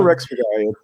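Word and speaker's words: Rexhbeçaj: Well, Rexbekai, it's just, you want to say that H. You want to. Yeah. It's not necessary. So Rexbekai is the way you do it.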